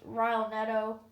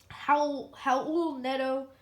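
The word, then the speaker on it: Raul Neto: now it is just rilenetto or excuse me i keep saying it wrong it's how how old nedo he's the only really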